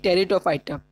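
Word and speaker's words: Pteridophyta: Next is division 3, टेरिडोफाइटा। P is silent in this।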